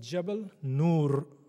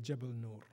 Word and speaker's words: Jabal Nur: It is called Jabal Nur, which means, Jabal means mountain, Nur means light.